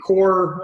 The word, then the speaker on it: coir: I tend to use a core material that's spelled COIR, that's made from coconut husk,